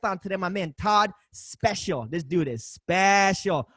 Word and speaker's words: Speciale: for being here man I always want to pronounce your name liked it like the Italian Ferrari especially Ali but it is special well actually that's the right way to say